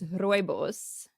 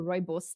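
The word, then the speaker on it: rooibos: so so how do you say that it's royos okay and it's actually known in the states I think you can buy it as red bush tea yes or Robos tea so I'm South African and South Africans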